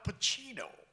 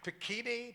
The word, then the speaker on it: Pacino: all, he said, Al Pacino. He pronounced my name right. That never happened. I went to a whole school, a public school. They never, Pacini, Pacuno, Pacani, that kind of thing.